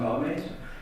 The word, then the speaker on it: Mahomet: Et il y a un peu de tout ça dans la prédication de Muhammad, ou Mahomet, selon la prononciation que l'on adopte.